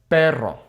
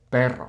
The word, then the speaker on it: pero: Okay, pero. Okay, pero. Not per, which arguably the singular R is sometimes harder to to pronounce correctly than the double R.